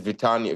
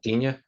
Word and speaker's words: Vitinha: The center mid the most important player right now for PSG is Vitania. Vitania, how do you spell it? Vitania? Vitinha, the Portuguese Vitinha, guy.